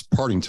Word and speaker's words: Partington: It's Partington. Partington. Yeah, it's 3 syllables.